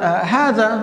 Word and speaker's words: هذا: فإذا هذا هي باللفظ، نحن نلفظ ألفا بعد الهاء، وأيضا هذه، وأيضا هذان، وهذين، وهؤلاء، كلها نلفظ وننطق ألفا بعد الهاء، إلا أننا بالكتابة لا نكتبها، إلا أسماء الإشارة التي